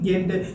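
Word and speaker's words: giant: गेंट। करेंगे इसको आप जेंट प्रोनाउंस ना करिए, जेंट नहीं है, ये गेंट है।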